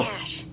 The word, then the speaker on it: cache: Cash.